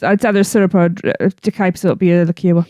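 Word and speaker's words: De Kuyper: I have no idea how to pronounce that. Chris? De Kuiper.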